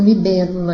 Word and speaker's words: libélula: Então, libélula aí é uma palavra proparoxítona porque ela tem a sua terceira sílaba contando da direita para a esquerda, mais forte, acentuada, tônica.